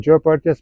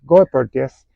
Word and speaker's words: Goeppertia: I was saying Joe pertas please go pertas and that happened in 2012.